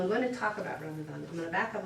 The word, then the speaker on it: Ramadan: The D is a TH in English pronunciation. You've been setting this up for me the whole time. I'm like, yay, she's saying it wrong. Yay! Because Americans all say Ramadan because it's a D, but it's a TH in Arabic.